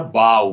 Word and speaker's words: bow: तो एक है BOW बो, और एक जो है BOW ही है लेकिन इसका प्रोनाउंसिएशन होता है बाव।